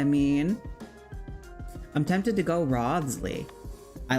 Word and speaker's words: Wriothesley: How do you pronounce it? Wriothesley.